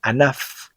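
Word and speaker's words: ענף: Fíjate que en palabras como anaf, que significa rama, af, que significa nariz, kesef, que significa dinero, y sof, que significa final, la P sofit se pronuncia como una F.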